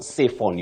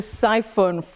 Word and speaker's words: siphon: beginning of that word the first syllable so you say Sion Sion what is also important is that dong i s not cphon you don't say to cphon fuel you say to siphon fuel okay to siphon siphon not cphon thank you so much